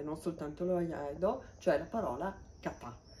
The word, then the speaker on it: kata: è questo questo kanji che significa che si pronuncia appunto katà è formato come vedete da tre parti sul